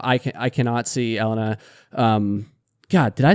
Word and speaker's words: Elina: camera right now I can I cannot see Ellena um God did I say it right no